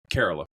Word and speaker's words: Kerala: from Southern India from Kerala in Kerala in Southern India you know they they they nimbly roll that r as as one does as a native Southern Indian speaker Cara yeah carola for the English speakers